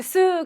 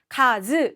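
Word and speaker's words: 数: 동명사의 활용을 하게 되고요 즉 한자가 하나만 나와 있으면 반드시 쓰 가 아니라 카즈 라고 읽어야 한다는 뜻입니다 자 그런데 어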